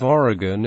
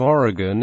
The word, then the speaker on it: Oregon: For example, the final syllable of Oregon is pronounced like the word in by residents of that state in the United States. While in the name of the village of Oregon in Wisconsin, the final